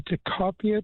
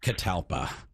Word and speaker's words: catalpa: Um, I have a question for Mark about a teacopia tree, and I don't know that I'm pronouncing it right.